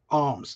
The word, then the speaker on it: alms: to the people now notice it's spelled a m a l m s uh he gave arms the word alms mean